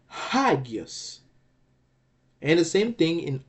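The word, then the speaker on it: ἅγιος: Well, it's the red letter here, alpha, because it bears the acute accent again. So it's gonna be hagios.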